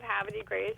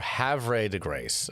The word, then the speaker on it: Havre de Grace: Okay, there's no R, I see. It's V before R. Havre de Grace.